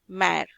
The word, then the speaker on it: mère: The pronunciation becomes A, mère.